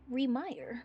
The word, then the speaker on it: Remyr: It's spelled Remyre. Why? Remyr. Because fuck you, that's why. Because it's Remire. Remire. Remyr. Like Remax. Read my air.